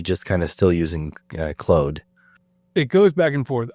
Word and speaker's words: Claude: But yeah, Claude is a French name, and in French it's Claude. It's pronounced. Yeah, so exactly. Whatever. It is what it is. And someone answered. They said Claude, like CLAWED. I think that's what you're getting at, is closer to the English pronunciation, and Claude is closer to French.